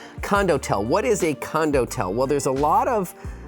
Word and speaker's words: condotel: are talking about condotel I'm going to spell it for you c o n d o t e l like condo and hotel it's condo and the last part Hotel well you could get that right condotel what is a